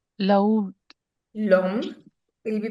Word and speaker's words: l'homme: H is silent. It's always silent in French.